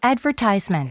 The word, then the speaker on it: advertisement: advertisement, 광고 advertisement, 정말 많이 나오는데 advertisement, 광고 advertisement 액센트가 앞에 가는데 영국 발음일 때는 발음이 완전 바뀌어요.